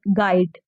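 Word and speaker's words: guide: है जो साइलेंट है आप खुद ही गाइड पढ़िए और आप हमें बताइए इसमें क्या साइलेंट है गाइड पढ़िए और मुझे बताइए कि क्या साइलेंट है गाइड हम लोग गाइड पढ़ते हैं ना कि गाइड यू यहां पे क्या हो जाता है साइलेंट हो जाता है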